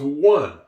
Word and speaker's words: one: This word makes no sense. It should say anie. It should, but that word spells one. The E is silent at the end of the word.